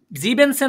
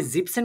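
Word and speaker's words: siebzehn: বলতে পারেন আচ্ছা ভাইয়া সবই তো বুঝলাম তাহলে জিপেনসেন না হয়ে জিপসেন কেন হয়েছে তাই না প্রশ্ন আসে না এখানে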